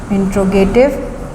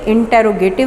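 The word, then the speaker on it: interrogative: ये इंट्रोगेटिव, इसका सही प्रोनाउंसिएशन इंटेरोगेटिव नहीं, इंट्रोगेटिव एडजेक्टिव है।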